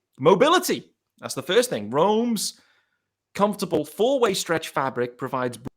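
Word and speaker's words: Rhone: Roan is spelled R-H-O-N-E, just in case you didn't know.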